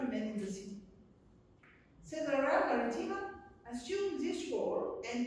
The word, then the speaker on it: Caesarea: century in Palestine, we have to go to Caesarea. Did I pronounce it well? More or less, Caesarea?